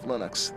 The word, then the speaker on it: Linux: linus and i really don't care how people pronounce my name but linux is always linux he developed a kernel and